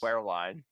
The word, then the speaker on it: Wehrlein: Wehrlein.